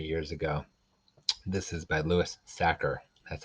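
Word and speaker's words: Louis Sachar: at the library years ago this is by louis sacker that's how you say his name he also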